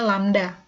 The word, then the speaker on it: lambda: Jadi cepat rambat gelombang satuannya meter per second, lambda atau panjang gelombang, jadi lambang ini dibacanya lambda. Ya, karena ini adalah salah satu huruf Yunani, tapi artinya panjang gelombang, atau satuannya meter.